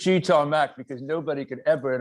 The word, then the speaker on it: G Tom Mac: said my name but it's properly said it is cheetah mac because nobody could ever